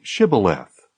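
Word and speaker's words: shibboleth: If he answered no, they told him, "Please say Shibth." If he said Cibileth, because he could not pronounce it correctly, they seized him and killed him at the fords of the Jordan.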